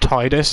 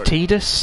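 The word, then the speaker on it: Tidus: - yeah I always thought it should be pronounced Titus as because it's like tied and the whole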